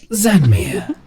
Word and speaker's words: Xanmir: don't mind I am zanmir guardian of moraden the world is falling he is rising you're all dead spelled with an X instead of a z but yes oh yeah